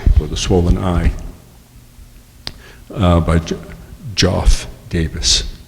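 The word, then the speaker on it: Joeff: One over here is of a boxer with a swollen eye by Joff Davis. Not Jeff Davis, you pronounce it Joff, J-O-E-F-F, who's the principal photographer for Creative Loafing.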